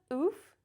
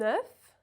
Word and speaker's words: œuf: It's not oof, it's not O, it's not O. The right pronunciation is F. Now this is a particularly tricky one because in the plural the pronunciation changes. When it's singular you have the open E and the F is pronounced F.